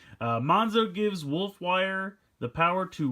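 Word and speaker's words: Monxo: This is Monzo and Wolfwire, although it's kind of written as Mon XO. I assume usually like in xylophone X is pronounced with a Z, so I'm assuming it's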